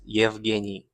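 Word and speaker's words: Евгений: The Slavic The Slavic pronunciation is Yvini. Yini.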